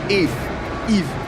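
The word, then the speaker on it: Yve: marksman like Claude I like the pronunciation of if wife says that we have a lot of different pronunciations yeah he goes he goes uh how do you say it if Eve I go yeve I don't know why I say too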